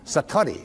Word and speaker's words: Satori: Japanese but it's called Satori I'd love to say that Satori SAT Ori and it means instant awakening